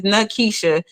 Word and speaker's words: Nakisha: My name has 3 syllables. For those who don't know, my government name is Nakisha.